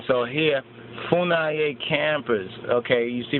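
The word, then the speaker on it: Funnye: So here, Funaye campers, okay, you see right there? Capers Funaye, right? Or Capers Funye, I think Funye, excuse me, Funye, right? Capers C. Funye Jr., pronounced Funay, born in 1952.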